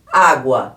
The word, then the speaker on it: água: Vamos ver se a gente pronuncia esse U aqui, ó. Água. Eu falei o U, não falei? Eu não pronunciei o U. Este U aqui, ele é mais fraco e o A é mais forte.